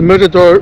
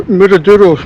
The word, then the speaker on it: Miradouro: Okay, a few miles up the road we've come to mirador. "Miradouro", should I say, it's not Spanish.